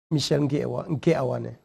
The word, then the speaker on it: Michel: by with a instead of e yeah just pronounce it michelle yeah yes so you're welcome once more to